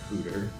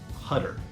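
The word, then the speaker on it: Huetter: hoer or hter or Hooter or hter it's pronounced hutter just as if it was h u t t e r so hutter hutter yep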